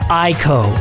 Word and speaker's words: ICO: I can confirm that I've been given explicit permission from Fumito Ueda to pronounce ICO using the correct and true pronunciation, ICO.